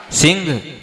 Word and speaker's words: सिंह: सिंह भी है ना सी के ऊपर आधा न है वो तो क्या हो जाएगा सिह सिह लेकिन वो न का उच्चारण अनुस्वार के अनुसार लेना अपने को पूरा न का उच्चारण नहीं करना तो सिह क्या बोलते सिह